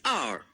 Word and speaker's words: R: However, when we say R, it's pronounced as R. This is a vowel sound.